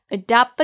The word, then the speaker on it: adopt: 말하지 마시고 부드럽게이어서 발음하세요 adop a dog 여기서 adopt t 발음이 나지 않아요 adop a dog I